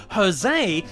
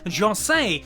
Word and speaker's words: José: more recent portrayals with his name even being pronounced as the spanish jose in all production since the 1990s instead of the accurate portuguese shall say as it was in the early films in this special companion